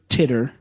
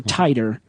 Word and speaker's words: Titor: lesser-known and those are John Titor time traveler or titter or tighter however you want to pronounce it it's spelled T itor and the man from